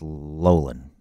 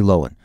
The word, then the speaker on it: Loughlin: in the Lori Loughlin which I actually think is pronounced Lolan I want hundred years everyone's been calling nobody screw she's never corrected it but I think it's actually Lowen anyway they knew what they